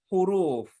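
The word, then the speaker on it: حروف: Nah, kalau kita bahasa Arab itu nyucapnya huruf. Iya. Huruf. Karena ada wawunya kalau kita bahasa Arab. Huruf. Gitu. Ini bacanya huruf, ada wawunya. Jadi agak panjang roknya. Kalau tidak ada wawunya, bacanya harf. Bacanya harf.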